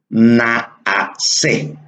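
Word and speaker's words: נעשה: Hagamos al hombre o hagamos es la palabra que en arameo o hebreo se pronuncia naase, naase, que se translitera al español hagamos.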